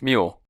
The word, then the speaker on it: Moulier: last name is Moulier, but I don't want to say it wrong. And It's Mule.